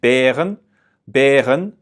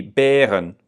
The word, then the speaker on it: Bären: So it's Es gibt Bären im Zoo. So that AE, Bären, it feels like there's an E at the end of it, Bären.